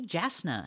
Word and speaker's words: Jasna: it has said that it is pronounced with the Y sound so it is yasna but I do think